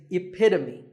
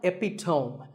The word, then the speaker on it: epitome: example of something and the perfect pronunciation of that is epitome it's not epitome once again epitome of course once you